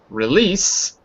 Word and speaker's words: release: The word is of course release. Now you good. Be careful with the first syllable because it's not it's it's I guess if you speak fast it's rather than re release.